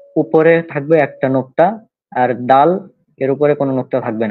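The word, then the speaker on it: دال: তো এটা হচ্ছে দাল। এই যে হরফটা দাল। হ্যাঁ, এটা স্বাভাবিক উচ্চারণ দাল, দাল।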